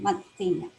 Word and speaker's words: Mantegna: So as I was saying, the Italian artist Andrea Montanya, for those of you who speak Hindi, this is how you pronounce his name, his last name, Mantegna.